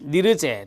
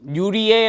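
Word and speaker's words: Nirje: 되겠습니다 자 1969년 스웨덴 니르 재 또는 유리에 라고 발음하기도 합니다 니르 제는 사회에서 주로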